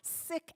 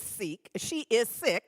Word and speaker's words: Sikh: And I wanted you to know this about her, that she is a renowned Sikh activist. Now, I always thought the word was pronounced Sikh. She is Sikh and pronounces it Sikh.